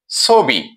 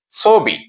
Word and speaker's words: ছবি: এ শব্দটি ছ এর সাথে অ ধ্বনি আছে। এর পরের ধ্বনিতে ইকার আছে। অর্থাৎ নিয়ম অনুযায়ী উচ্চারণটি হচ্ছে ছবি। অকারটি ও এর মত উচ্চারণ হচ্ছে। ছবি।